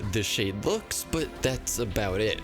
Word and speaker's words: the Xade: You could say TheXade, the Xade, the CrossXade, or the Xade. I intended for it to be the Xade, and I added the